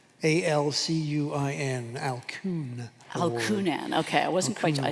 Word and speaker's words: Alcuin: And I'm not sure exactly how you pronounce the name of that award. Alcuin. A-L-C-U-I-N. Alcuin. Award. Alcunan.